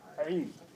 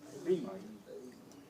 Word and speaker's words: Eid: Tell people, it ain't Id, it's Eid.